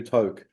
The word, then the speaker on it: Toke: Am I pronouncing that correctly? Toke, Toke. Okay, Yeah, Toke.